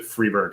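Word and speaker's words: Freberg: in in recent videos which i think he pronounces it freeburg so i really gotta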